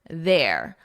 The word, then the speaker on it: there: But here, notice the vowel is different. Air, there, air. Now, it's the exact same as the possessive, there. Their car is there.